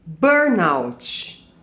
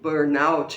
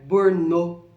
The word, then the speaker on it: burnout: Ela é uma palavra inglesa, que é burn, de queimar, out, fora, né?